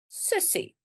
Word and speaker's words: sussie: Sussie. Sussie. Very important when we write it down, it's a double S. But when we say it, it is pronounced sussie.